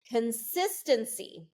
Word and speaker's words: consistency: Consistency, okay? 4 syllables, consistency.